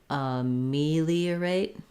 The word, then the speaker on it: ameliorate: has three unstressed syllables another strategy that you might find helpful is just to do those unstressed syllables and then add the rest um so trying me me the irate or just liorate leerate ameliorate because this part has to go by very quickly and that makes it